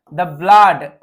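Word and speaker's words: blood: বিষয় বলে রাখি যে ডাবল ও দেখলে সাধারণত আমরা কি পড়ি উ পড়ি যেমন গুড জি ডবল ওডি এখানে তো উ এর উচ্চারণটা উ এর মত মানে ডবল উচ্চারণটা এর মত হয় কিন্তু এই ব্লাড শব্দটা ব্যতিক্রম আরেকরকমভাবে আরেকটা এরকম ভাবেই শব্দ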